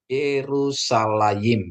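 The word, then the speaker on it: יְרוּשָׁלַיִם: ya jadi bacaannya adalah yerusalaim ya Yerusalem ya yerusalayim ya tulisannya seperti ini ada Spa ada Res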